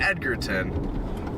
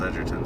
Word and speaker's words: Edgerton: I was pronouncing it Edgarton earlier.